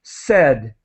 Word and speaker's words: said: word is said so the end of the word is similar to read in English said there's no a sound in that word said all right great and